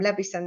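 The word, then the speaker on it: Leveson: Levison, that's how you say it.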